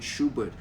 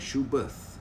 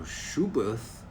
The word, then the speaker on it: Schuberth: Apparently, the German pronunciation for Schuberth is Schubert, okay? There's no TH sound in Schubert.